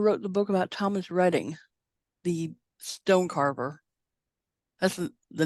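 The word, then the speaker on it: Reding: think that's I think it looks like Thomas reading r-e-d-i-n-g but they pronounce it reading and Laurel what is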